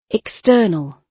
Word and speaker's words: external: External. So we know it external, yeah, the second syllable. The second syllable, we need to put the space on.